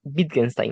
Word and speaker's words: Wittgenstein: Entonces, su nombre se pronuncia Wittgenstein, ¿no? Porque la W en alemán se pronuncia em, como una B, ¿no?